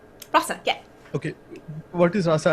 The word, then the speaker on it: Rasa: Rasa? Rasa, yeah.